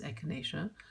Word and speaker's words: echinacea: diets included a variety of supplements with near unpronounceable names, even for me: ginkgo biloba, echinacea, it definitely is echinacea, and others that collectively formed an entirely new lexicon for the three grocers.